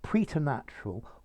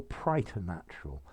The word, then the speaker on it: preternatural: thinking about the pronunciation i think you can say preternatural or prey to natural um let's see i think preternatural is the most common but you can also